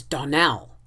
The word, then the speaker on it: Donnell: morning connected with the Donald children Clarice Almira told me that you pronounced her name Donal now miss Shirley the correct pronunciation of our name is Donnell accent on the last syllable I hope you will